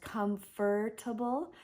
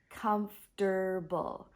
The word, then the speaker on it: comfortable: that's a hard one comfortable it's three syllables I often hear English herb English learners pronouncing it as comfortable but actually it's sounds like comfortable comfortable so three syllables